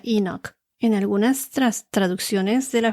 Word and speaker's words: Enoch: En inglés se pronuncia Enoch.